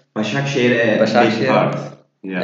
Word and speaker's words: Başakşehir: Besiktas, Perfect pronunciation. Yeah. Istanbul, Besikshehir. Başakşehir, a bit Başakşehir.